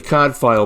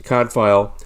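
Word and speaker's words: Cadfael: as i said she wrote the uh the cod file mysteries cod file is spelled c-a-d-f-a-e-l i believe and she wrote many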